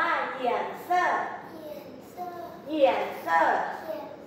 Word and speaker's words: 颜色: คะ ฝี อ่ะ ฝี ภาษา จีน อ่าน ว่า เหยี่ยน เซอร เหยี่ยน เซอ เหยี่ยน เซ่อ